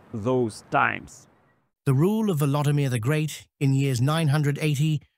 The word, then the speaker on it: Volodymyr: Ancient chronicles always have his name in its Ukrainian pronunciation, Volodymyr.